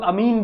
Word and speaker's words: amine: इसे बहुत लोग अमीन भी बोलते हैं, कुछ लोग अमीन प्रोनाउंस करते, कुछ लोग अमाइन प्रोनाउंस करते, मेरे को अमाइन सही लगता है तो मैं वही प्रोनाउंस कर देता हूं, ठीक है, आपके